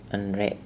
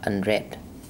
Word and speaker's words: unread: Stress, nguyên tắc mình nhấn là nhấn lên root, từ gốc của nó. Ví dụ unlucky, từ gốc là lucky. Unlucky, unhappy, unhappy, từ gốc là happy, unhappy. Unread, unread, từ này các bạn